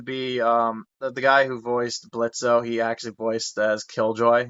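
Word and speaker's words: Blitzø: And then they also got Brandon to be the guy who voiced Blitzo. He actually voiced as Killjoy, and I'm just like, oh, Remember, it's Blitz. The O that's is silent.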